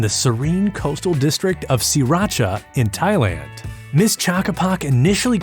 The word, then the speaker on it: Sriracha: Well, first off, we've been pronouncing it all wrong. Here in the States, most of us say Sriracha or Sriracha, but it's actually pronounced Sriracha.